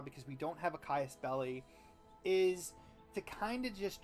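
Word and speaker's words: casus belli: The way that war works is that typically you have to have a Caius Belli. And I believe that's how you pronounce it. What a Caius Belli is it's a reason to go to war.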